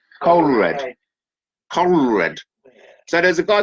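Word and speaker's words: Coelred: It's Cold. It's C-O-E-L. Yeah. Red. It's like Joel Coldred. Coldred. Coldred. So there's a guy called Coldred. Yeah, you've got to imagine it with an accent. Coldred. Coldred.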